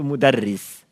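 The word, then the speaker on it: مدرس: Anda enggak tahu kira-kira bacanya apa? Madras, midris, madris. Kalau kita tahu itu mudarris.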